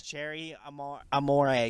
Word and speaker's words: Cherie Amour: I've already been flamed once for saying the name wrong the first time. Cherie Amour. It's Cherie Amour.